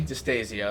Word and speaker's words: Distasio: But yeah, so this is Distasio. That's how you pronounce it, right?